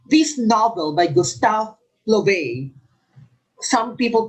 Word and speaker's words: Flaubert: Number 7, this novel by Gustave Flaubert, some people pronounce it Flaubert, was met with disapproval.